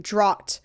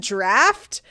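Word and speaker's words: draught: d r a u g HT and I pronounced it Dro and then I had people after where the episode came out being like it's pronounced draft and I was like but it's spelled drought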